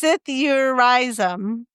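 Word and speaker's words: psithurism: It's pronounced sithurism.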